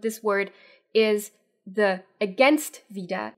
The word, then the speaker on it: wieder: me say one thing Vida vida is something that native Germans mess up all the time one because it always sounds like it's a long e so a lot of